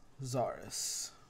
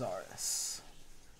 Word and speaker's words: Czarus: I believe it's pronounced Zaris. It has a C in the beginning, but I think that's just like a spelling thing. But the group's name is Zaris.